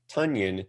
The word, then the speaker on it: Tonyan: on fantasy football Twitter, that Robert Tonyan's name is actually supposed to be Tunyon. That's true. Which is pronounced the same as Funyon.